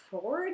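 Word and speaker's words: Fforde: Affair by Jasper Ford I think is how you say his name I always say for for because there's two FS but I think that's just a weird thing that I do and not actual reality so the AA fair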